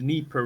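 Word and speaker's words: Dnieper: Like it like like it's named after the the Neper River. Yeah. Yeah. The way you pronounce that is to like drop the D somehow. It's silent D.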